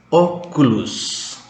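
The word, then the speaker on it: óculos: Oculus. Oculus. Kacamata. Tekannya di O.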